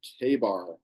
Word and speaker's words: Ka-Bar: Cutco is a proud producer of many Ka-Bar knives. That's how you pronounce that. You want to write down K-A-Y above that, just so you remember.